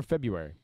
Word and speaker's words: February: you say february or february february i never pronounced the r february no i say february they're both correct but every time i